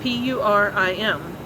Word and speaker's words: Purim: um the first of the year called purim it's spelled p-u-r-i-m and it's actually pronounced purim um and it